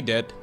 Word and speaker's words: de: in Dutch as well it is not pronounced die though yeah a lot of kids will be like die die no that's not what they do be D de de de de I